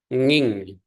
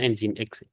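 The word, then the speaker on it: nginx: lebih ringan Welcome to engine X tulisannya seperti ini jangan ada yang ngomong nging Apalagi sudah semester 8 aplikasi web servernya nyebutnya nging cara bacanya engine X oke nah kalau sudah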